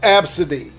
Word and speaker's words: ABCDE: ] named her kid ABCDE which is pronounced Absa d ABCDE but first though